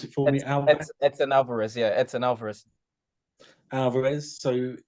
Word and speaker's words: Edson Alvarez: You have to pronounce it for me. Edson Alvarez, yeah, Edson Alvarez.